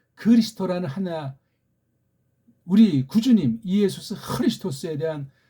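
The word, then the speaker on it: Χριστός: 흐자가 안 되면 아주 부드러운 히읗 소리가 담긴 크를 하면 돼요. 크리스토스. 그렇게 해야 될 것 아닙니까? 크리스토스. 뒤에 오스는 꼬랑지려서 뭐 혹시 몸뚱아리만 발음 안 되면 크리스트. 그렇게 해야 되잖아요. 그리스도가 뭡니까? 일본 소리예요, 완전히 그거.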